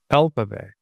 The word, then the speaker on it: alphabet: Alphabet. And what we can say in number 23 is that the word alphabet has the stress in this syllable, which is all.